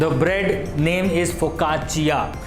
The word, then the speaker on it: Focaccia: सो फोकाचिया, the bread name is फोकाचिया। Italy में कोई भी चीज़ डबल सी से होती है तो वो चिया करके उसका प्रोनाउंसिएशन हो जाता है।